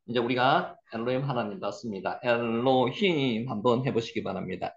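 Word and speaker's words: אֱלֹהִים: 중에 하나입니다 자 이제 우리가 엘로힘 하나님 봤습니다 엘로힘 한번 해보시기 바랍니다 L 여기 세 개 있으면은에 발음이라 그랬죠 여기 아 발음 나고요 L 요게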